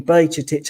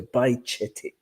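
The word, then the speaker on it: Bajčetić: And how you pronounce this, the closest we have in English language is ch again. So Bajcetic, if you want to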